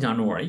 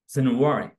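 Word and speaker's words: January: প্রথমে আছে জানুয়ারি, ইউজুয়ালি আমরা এইভাবে উচ্চারণ করতাম কিন্তু আসলে এটার এক্সাক্ট প্রনাউন্সিয়েশন হচ্ছে জানুয়ারি। জানুয়ারি আমরা আইপি থেকে উচ্চারণ করবো।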